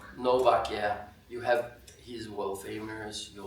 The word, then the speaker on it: Novak: I'm not into tennis, but Just Novak, say Novak. Novak.